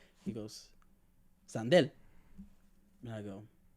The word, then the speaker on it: Sandel: spell it he's like it spell it's spelled how it sounds and I go s